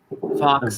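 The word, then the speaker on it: Fawkes: phoenix bird fa aw I think it's kind of like like gu Fox f a w KES yes spelled like gu fox's name oh and then there's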